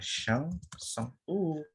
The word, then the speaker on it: chanson: Terus ini bacanya chanson.